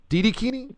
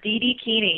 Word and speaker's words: Didikini: And so the website is, how do you pronounce this? It's Dream It, Do It. So it's D-I-D-I-Kini. Didikini? Didikini? Yes, Didikini.